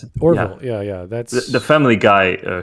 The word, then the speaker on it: Orville: How you pronounce it? Orville.